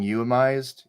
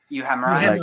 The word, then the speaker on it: euhemerized: So is it a man who's being euhemized? How do you say it? Euhemerized.